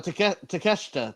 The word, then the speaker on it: Takeshita: I have no idea. Takeshita. That's how you say it. Takeshita.